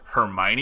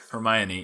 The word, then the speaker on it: Hermione: But for one, if you asked me how Hermione was pronounced, the first time I read this book, this will be fun.